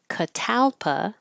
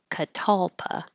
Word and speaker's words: catalpa: We just finished meeting for pronunciation practice on September 17th, and we started with two different ways to pronounce this tree, Catalpa or Catalpa.